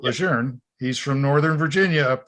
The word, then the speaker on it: Lejeune: military think it's camp lejeune oh anybody that reads it i mean there's no r but general john a lejeune pronounced at legerne he's from northern virginia